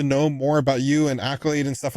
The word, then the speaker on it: AKYLADE: a d e and it's pronounced Accolade like you got an Accolade because you did great things that's why it was